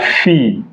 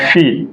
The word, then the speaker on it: fille: So e.g., la fille, like feel, to feel something, fill in the gap. La fille, E is silent.